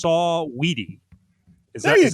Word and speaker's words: Saweetie: I thought it was Sweetie, but it's Saweetie.